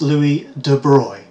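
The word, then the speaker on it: Louis de Broglie: a Frenchman called now this apparently is pronounced Louis de broy not broccoli to broy I don't know why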